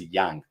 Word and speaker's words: Yang: Yeah, and that's actually, everybody says Yang just because it's easy, and the Koreans don't really care because they know like their names for English speakers are impossible to pronounce, but it is Yang. Yang, yeah. That soft A.